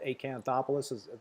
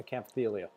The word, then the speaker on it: Acanthophyllia: The Acanthopoulos I'm not sure if I'm pronouncing that correctly. Acanthophyllia. Yeah, Acanthophyllia. Yeah.